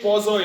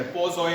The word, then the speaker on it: Poiseuille: इट इज पोजोए लॉ। इसमें जो एल है वो साइलेंट है। पोजोय कहते हैं इसको।